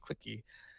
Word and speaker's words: CWCKI: And then they made an entire wiki dedicated to Christian Weston Chandler called the Quickie, which is CWCKI, pronounced Quickie.